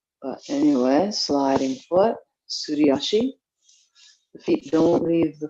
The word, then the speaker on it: Suriashi: And then Suriashi is the sliding foot. If you had to spell it in English, it would be S-U-L-I or S-U-R-I. But anyway, sliding foot, Suriashi.